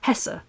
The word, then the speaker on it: Hesse: Well, if it's spelled Hesse, yes, it's an E sound in German. The E is, so it's Hesse.